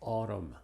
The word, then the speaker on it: autumn: Es muda después de la M al final. Palabras como autumn, column, condemn, damn, him, and solemn.